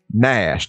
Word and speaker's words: gnash: His name could be in reference to the English word Nash. The only difference is that that word is spelled Gnash, where his name is just spelled Nash.